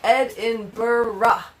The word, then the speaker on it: Edinburgh: Gorgie says, Edinburgh is the correct pronunciation. Did I do that right? Edinburgh.